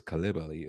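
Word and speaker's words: Coulibaly: Bilo Calibi Kulibali. I'm pretty sure it's Calibi is the correct way to say it, but hey, you know, we we'll work on that.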